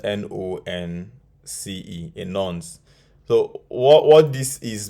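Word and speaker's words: nonce: we have also called a nuns spelled it is spelled n-o-n-c-e in nons so what what this is basically is a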